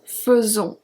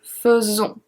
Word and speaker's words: faisons: In the present tense, it's conjugated like nous faisons, faisons. So the AI before the S is pronounced as a E, faisons.